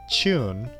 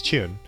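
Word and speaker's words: 中: And usually in Japanese words, even if you use the Chinese reading, it's chu without the N sound at the end. But if you're playing Mahjong, which is a Chinese gambling game, even in Japan, you add that N sound at the end, so it's Chun.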